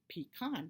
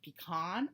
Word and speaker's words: pecan: debate on how do you say the word pecan you say pecan or pecan my dad he always says pecan